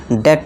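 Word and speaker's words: debt: इसे डेप्ट पढ़ेंगे। अब डेप्ट क्या है? ये गलत है। अभी हमने पढ़ा कि बी को साइलेंट कर देना है। अगर टी से पहले हो बी हो। तो इसे अब क्या पढ़ेंगे? इसे हम डेट पढ़ेंगे। डी ई टी। बी को भूल जाइए।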